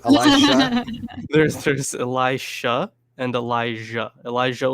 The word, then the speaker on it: Elisha: How do you pronounce his name? Elisha.